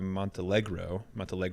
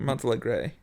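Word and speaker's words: Montealegre: this incredibly charismatic character, Carey Mulligan as Felicia Montelegro, excuse me. Montelegro or Montelegre? Montelegre. Anyway, Sorry. I'm not going to pronounce it correctly.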